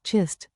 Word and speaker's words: چیست: Rhymes with gist. If you insist, ask chist to get the gist.